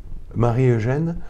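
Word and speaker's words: Marie-Eugène: sommes pris par lui écrit marie eugène ou prononce plutôt mari eugène voilà l'église communication mutuelle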